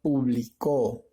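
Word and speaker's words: publicó: aislada la última sílaba lo que la hace una palabra aguda y en este caso se pronuncia público ya es una palabra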